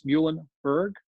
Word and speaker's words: Muhlenberg: And it's Muhlenberg. We are the mules, so that's always the way to remember how to pronounce the name.